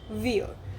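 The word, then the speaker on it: wir: it as ish and for plural it's we so we call it as we ver. Now it is similar to English we but we don't say are very prominently.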